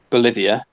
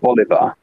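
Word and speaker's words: bolívar: do you know why because I pronounce I mispronounce the Venezuelan currency and it so it's it's not the Bolivia as I said in the entire village video it's the bali-ba so nearly every single comment well not every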